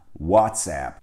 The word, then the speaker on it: WhatsApp: doğru olanı bu WhatsApp WhatsApp Çünkü oradaki ap'den oluşan hece aplikasyon kelimesi yani İngilizce application kelimesinin kısaltılmış hali Dolayısıyla vase dolayısıyla bir